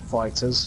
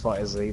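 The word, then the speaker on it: FighterZ: just start again Dragonball buy a Z not fighters fight a Z that's how it's pronounced splatoon to expansion so why I suppose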